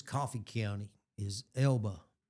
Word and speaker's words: Elba: it's Coffee County is Elba. Yeah. Alabama. A lot of the locals say LB, you know, like LB or EB.